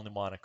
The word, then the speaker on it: mnemonic: And you have to spell mnemonic right to do that, right? The M is silent.